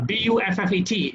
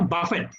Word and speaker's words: buffet: You know, a lot of us tend to pronounce B-U-F-F-E-T as, you know, Buffett, okay, instead of buffet.